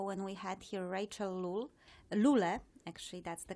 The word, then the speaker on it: Lule: I think it was a couple of episodes ago when we had here Rachel Lule. Actually, that's the correct pronunciation.